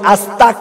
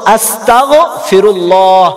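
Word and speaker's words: أستغفر الله: হবে গয়েন সেখানে আমরা কাফ উচ্চারণ করি আস্তাক বলি, এটা ভুল। শুদ্ধ হলো আস্তাগফিরুল্লাহ আস্তাগফিরুল্লাহ।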